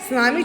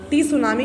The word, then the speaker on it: सुनामी: सुनामी जो होता है बच्चों, एक जापानीज़ वर्ड है, इसमें टी साइलेंट होता है। पहले भी बच्चों ने पूछा हमारे में टी भी तो है, आप इसको टी सुनामी क्यों नहीं पढ़े, नहीं, सुनामी पढ़ा जाता है, टी इसमें साइलेंट रहता है।